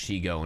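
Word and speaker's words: Shego: I just watched the whole Shigo stuff, and I am delighted that I remember that, yes, it's pronounced Shigo.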